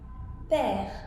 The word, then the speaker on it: père: Now, if you take E and you put the accent the other way, then it is pronounced E. For example, mère, which is mother. Père, which is father.